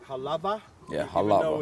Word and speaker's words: Halawa: Now it's pronounced Halava. Yeah, even Halava. Even though it's a W, like Wa, but. Yeah, because in Hawaii, the language, in certain places in Hawaii, the W is pronounced with a V.